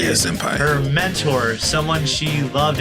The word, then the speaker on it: senpai: Yeah, senpai.